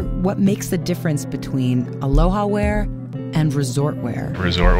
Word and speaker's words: Aloha: one must understand the origins of the state aloha got to pronounce it correctly Aloha kakahiaka that's good morning